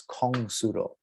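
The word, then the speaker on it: 공수도: And these characters are very important when you look at it, because a Korean who reads Hanja and has a different pronunciation for most of them reads this as Kong Sudo.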